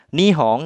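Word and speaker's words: 日本: jadi kanji mataharinya dibaca omyominya ya Minahasa Jadi dibacanya nih seperti itu nihong kalian udah tahu kan ya Minasa nihong itu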